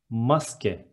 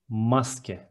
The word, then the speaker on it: maske: Next one, mask is maske in Turkish. Maske. We add e to the end of the word and it is maske.